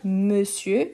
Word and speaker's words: monsieur: Et pourquoi on change ici la prononciation? Donc, plus fermé, monsieur, ici, mais, bien ouvert, messieurs.